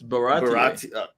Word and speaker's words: Baratie: It's Baratie.